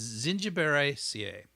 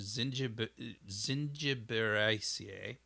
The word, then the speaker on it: Zingiberaceae: It's Zingiberaceae is what it is. That's my best attempt at pronunciation. Zingiberaceae.